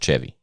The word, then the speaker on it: Chevy: But his is pronounced Chevy. Yeah, it's pronounced Chevy, but it's spelled the same way.